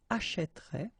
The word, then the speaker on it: achètera: will change the pronunciation, so you will get this est, achèterait, achètera, achètera, achèteront, achèterait, achèteront. Okay?